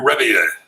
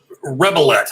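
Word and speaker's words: Rebillet: So Marc Rebier. Marc Rebier, hit up Stephen Fortner. He's looking for you. Rebelette is how it's written, but Rebier would be the French pronunciation.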